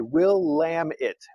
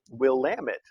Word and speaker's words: Willamette: but there's a there's a pronunciation guide we'll lamb it will lamb it okay we'll try that